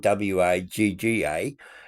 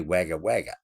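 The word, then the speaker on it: Wagga Wagga: Look, we had the name Waga Waga in New South Wales and that's spelled W A G- A. And we say Waga, but you say wagger wagger.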